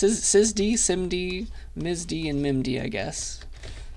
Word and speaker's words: SIMD: got SZ s SSD simd MD and MIM I guess who knows pronounce it however you'd like but at least this one people people tend to say simd all right so szd